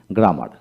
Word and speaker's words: grammar: হ্যাঁ বন্ধুগণ, double M এ ম উচ্চারিত হয়, সেটা মনে রাখতে হবে। লক্ষ্য করেন কিভাবে পড়বেন, অপরকে পড়াবেন। যেমন গ্রামার, গ্রামার উচ্চারণ হবে জি